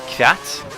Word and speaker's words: Kvyat: Toro Rosso are gonna have Vern and Kvyat, which rhymes with Pratt.